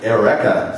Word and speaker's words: Eureka: 7 yeah I mean Eureka is not a Japanese word but they called it erea 7 okay and uh